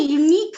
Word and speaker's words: unique: You are vannathu, but how will you pronounce the word? It is not a vowel sound, but it begins with consonant sounds. All these words begin with a vowel, but these begins with a consonant sound U.